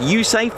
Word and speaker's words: USAFE: United States Air Force in Europe pronounced usafe as well uh they're